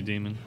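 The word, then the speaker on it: daemon: up in this Court did they convince you to pronounce it Damon to know it's always gonna be demon alright guys well that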